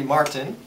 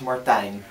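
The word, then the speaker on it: Martijn: name uh well the the English version would be Martin Martin but the Dutch version is Martine that's difficult to pronounce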